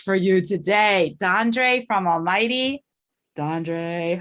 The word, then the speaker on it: ALMVGHTY: As you see, it's Almighty spelled with a V.